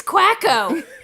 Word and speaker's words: Quacko: Oh ork waggle and they're just like it's quack oh it's quack oh they're just a bit of